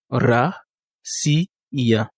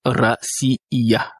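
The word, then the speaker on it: Россия: Ici l'accent tonique est sur le I et il y a trois voyelles donc trois syllabes ra siia. Il faut faire attention au niveau de sia racia. Il y a d'autres personnes qui prononcent ça. Rcia racia. On avait vu précédemment que une voyelle est égale à une syllabe. Ici le ya ici constitue une syllabe à part entière. Voilà pourquoi on dit ra si iya.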